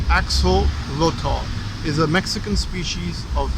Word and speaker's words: axolotl: It's pronounced axolotl, is a Mexican species of salamander.